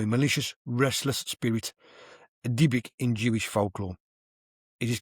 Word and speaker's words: Dybbuk: You got the Diblick box. Now I don't know. Just everyone says this word differently. It's spelt DYBBUK. Diblick box.